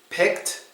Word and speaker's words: picked: if you're correct and they are pronounced painted picked and palmed painted picked and palmed